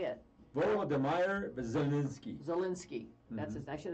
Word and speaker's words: Volodymyr: Volodymyr Zelensky.